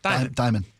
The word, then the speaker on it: Dimon: Is it pronounced Dimon? Dimon.